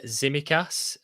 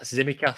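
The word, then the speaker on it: Tsimikas: yeah i've just been looking at um how people pronunciating it across different podcasts and that zimmy cath seems to be the the one that people are going for so we will with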